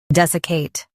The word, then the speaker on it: desiccate: des i cate desiccate Stress des and keep i light.